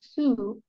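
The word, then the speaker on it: Sioux: bottom of that please yeah m'am the Su pronounced Su are a cluster of tribes who live in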